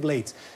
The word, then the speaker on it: Blades: a llevar esa medalla blades el reivindica esa lectura anglosajona de su apellido y por lo tanto aquí lo respetamos y aprendemos también que se pronuncia así rubén blades esa medalla de harvard